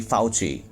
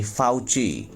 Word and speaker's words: Fauci: report top u.s infectious disease expert dr anthony fauci yes the pronunciation of the name is dr anthony fauci fauci called on china now the first word